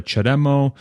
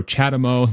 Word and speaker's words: CHAdeMO: it's significantly smaller than the chademo or chadamo depending how you want to pronounce it and the CCS